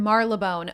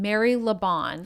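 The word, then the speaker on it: Marylebone: the correct pronunciation it's we were in Mar labone oh my God I got it I was saying Mary Leon hilarious which essentially is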